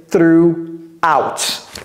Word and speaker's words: throughout: toute la nuit word through out ne prononcez jamais le G ni le H through out c'est comme si le G le H n'existait même pas through out donc la